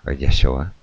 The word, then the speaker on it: Yeshua: heard it all before the fourth sound one here is in the name Yeshua Yeshua is the you sound as the word true like the first three